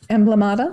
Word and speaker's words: Emblemata: Emblemata?